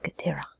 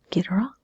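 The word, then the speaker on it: Ghidorah: you as character is king Ghaderi or you can pronounce him get her on this is kid robots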